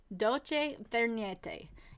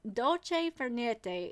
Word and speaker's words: dolce far niente: And dolce far niente is how you say it, I think.